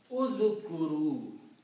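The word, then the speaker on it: ٱذْكُرُوا: And pronounce it uzkuru. Just like we just saw that. Khuzu. Khuz or khuzu. So by adding waw, fa'ala, fa'alu. Fa'ala means one person he did, and fa'alu is a plural of that. So by adding a waw, you make the plural with an alif which is not pronounced.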